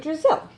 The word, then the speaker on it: Drizzle: Brazil rhymes with Drizzle.